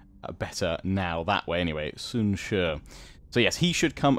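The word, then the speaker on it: Sun Ce: few turns after that, who I've been calling Sun Si. Apparently it's pronounced closer to Sun Shu, or at least hopefully that's sounding better now that way. Anyway, Sun Shu.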